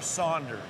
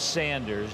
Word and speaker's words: Sanders: for me all right is it sanders or saunders it's sanders there is no u in it i was right